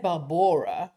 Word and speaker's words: Barbora: Definitely they said Barbora, whereas we would usually say Barbara.